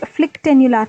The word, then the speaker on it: phlyctenular: this video we want to look at this flick tular kerato conjunc vitis look at the spelling here